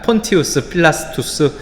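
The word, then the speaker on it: Pontius Pilatus: 폰티우스 필라스투스, 이것이 정확한 발음일 것이고 빌라도는 아무래도 한자어로 번역한 그러한 이름일 것입니다.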